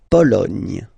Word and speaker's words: Pologne: La Pologne.